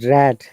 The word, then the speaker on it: read: run run run okay and read the past tense is red those similar spelling past participle red read red red read okay then the chain letters right yeah the spelling didn't change but the sound has changed so look